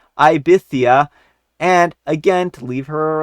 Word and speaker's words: Ibiza: I repeated again, telling her that it should be Ibiza, a different word, but you get it, and